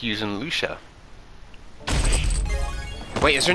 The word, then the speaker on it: Lucia: Lucia stopped by okay so her name is pronounced Lucia Lucia okay I came by to visit you